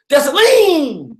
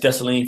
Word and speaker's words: Dessalines: She said, Dessalines. That's right. You can't just say Dessalines. You got to say Dessalines.